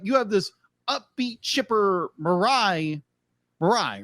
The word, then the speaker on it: Mirai: he just like you have this upbeat chipper marai marai right yes marai marai thank you because